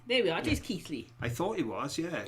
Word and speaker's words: Keighley: It is Keighley.